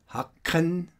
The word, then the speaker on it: Haken: And here, the combination of C and K does actually accentuates the K here. Haken, Haken.